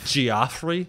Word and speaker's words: Geoffrey: You know this is an issue because it's spelled G-E-O-F-F. Geoffrey?